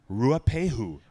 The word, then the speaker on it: Ruapehu: will drag Raya pay that is a word you need to learn how to pronounce because it is a holy site it's a holy location how you say it it is a sacred mountain just say it Ruapehu ruapehu this is when they